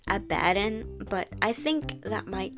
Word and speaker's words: Abbidon: I actually pronounce his name as Abadin, but I think that might trigger some people, so I'll refer to him as Abby.